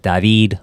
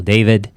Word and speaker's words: David: Mi nombre es David o David, como se pronuncia en inglés.